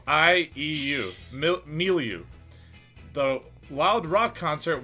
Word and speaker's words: milieu: for a chance of steel the word is milieu m e a u l u that is incorrect it is spelled m i l i m-i-l-i-e-u milieu the wild rock concert was not matilda's